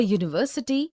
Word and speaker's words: university: a hole, also a university, a union, a European, a EU, a unicorn, a useful article. Because these words, university, union, European, EU, unicorn, useful, begin with a consonant sound, similarly, we say a 1 rupee note.